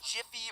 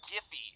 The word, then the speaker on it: Giphy: Have you ever used anything from Imager, Jiffy, or Giphy, depending on how you pronounce it?